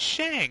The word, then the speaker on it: Shang: __ ] you matt it's not chang it's shang it's s i say